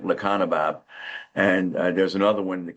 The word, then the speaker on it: Lecanemab: Lecanemab.